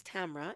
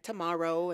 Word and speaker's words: Tamara: my grandmother names me Tamra rhymes with camera all around the world these limbs are calling me things like tomorrow and tomorrow things like